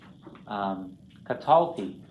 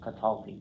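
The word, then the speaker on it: קָטַלְתִּי: some of those, like katalti, right? Accent's not on the last syllable, katalti.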